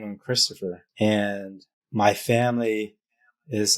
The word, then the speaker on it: Kristoffer: is Kristoff but then now people call me Kristoff I'm like she's Christopher and then your last name how do you pronounce that and what's the story there uh